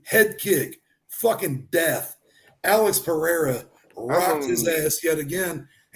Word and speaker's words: Pereira: All right, so Alex Pereira, I don't know how to say it in Brazilian. Brazilian is like Mexican, like if you're deaf. So it's Pereira.